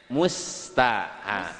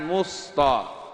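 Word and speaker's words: مُسْتَ: Ibu itu bacanya musta. Musta, bukan musto. Kalau musta, kalau nggak senyum lagi nanti kayak musto.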